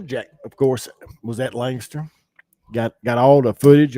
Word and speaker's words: Lancaster: mishaps and melees that took place at Lancaster Lancaster say it right I get I'll get uh jumped on by bumper Jack it's lster lster it's Langster lster but going into lster speedway on Friday